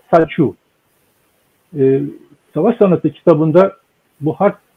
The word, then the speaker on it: Sun Tzu: Okunuş şekline göre Sun Tzu diye okunuyor ama aslında Saçu.